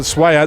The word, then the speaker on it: Swayer: Swayer, I've been told to pronounce it Swayer.